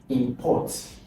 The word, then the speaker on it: import: Import. And the stress on import is on the second. Import. Port. The stress is on port. So, second syllable.